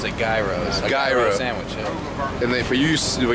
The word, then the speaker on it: gyro: I say it's a gyro no it is it's just that it's um it's uh it's it's Greek that's how they say it in Greece really into that BB